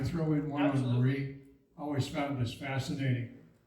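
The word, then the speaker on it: Mayre: And although you can't see Pipers, because it's, a lot of people call it the Mayor Building, but it's actually technically pronounced Marie. It's a weird spelling. It's M-A-Y-R-E, I think it is.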